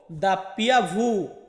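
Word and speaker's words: doppia vu: তারপর হচ্ছে ভি, এই ভি কে আমরা ইতালিয়ান ভাষাতে উচ্চারণ করব ভু। ডাব্লু, ডাব্লুকে আমরা বলবো দাপ্পিয়া ভু, দাপ্পিয়া ভু।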